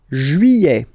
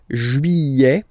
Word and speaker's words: Juillet: Juillet. Okay, you get this double L here. Juillet. Juillet. Don't pronounce this final T, E-T here at the end.